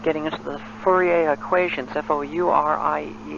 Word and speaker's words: Fourier: And just as we've been talking about getting into the Fourier equations, F-O-U-R-I-E-R, and I believe it's pronounced Fourier.